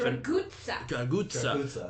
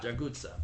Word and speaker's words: Draguta: But it's spelled in the subtitles with a T-A, and I don't know. Pronounced with a Z. Okay, fine. Anyways, pizza. and then he says this. Pizza. You're right. Oh, you're right. He says like pizza.